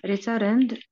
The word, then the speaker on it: returned: tribe to uh we returned to our hotel uh the next day every early we return return we we returned we returned okay don't pronounce e just The Returned uh returned I'm return